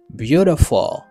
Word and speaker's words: beautiful: OK, donc ça veut dire accent li tomber sur premier syllabe là. Ça veut dire c'est dans premier syllabe là m'a monter voix et puis tout la descendre dans reste. Et bien là ça me